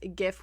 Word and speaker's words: GIF: GIF himself, Steve Willett, it is GIF with a soft G, and he makes this joke about people who pronounce it with like a J.